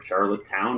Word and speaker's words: Charlottetown: staying in charlatans or charlotte town how do you say it what's the right way charlottetown yeah that's where we